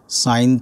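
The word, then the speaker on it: sine: সাইন of theta, যাকে আমরা shortly লিখব সাইন থিটা। এটার pronunciation সাইন theta, not seen theta.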